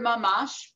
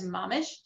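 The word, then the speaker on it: ממש: The Hebrew word mamash, pronounced in Yiddish or Ashkenazi Hebrew as mamish, is an intensifier.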